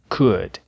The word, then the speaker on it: could: mudo vamos lembrar que nas palavras would could e should a letra L também não é pronunciada What up What up